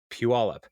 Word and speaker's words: Puyallup: So, and then another email from listener Brienne, who is coming from all the way from Puyallup. And that's how you say it, people from out of town. Puyallup, and she sent to